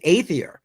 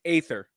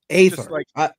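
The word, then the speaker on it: Aethir: fries crypto flux and aier now did I pronounce that correctly I think it's Aether ather yeah okay ather my bad uh that is the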